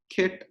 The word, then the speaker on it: ket: a vector as alpha the way i pronounce it is kit alpha or simply alpha vector